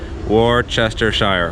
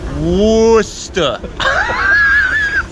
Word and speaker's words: Worcestershire: say what's the sauce Worcester so it's not it's Worcester and not Worcestershire like it looks like once again what's the